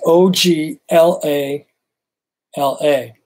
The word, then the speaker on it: Oglala: it up here yes i do let me spell it right the o g l a l a so let's see if i can even pronounce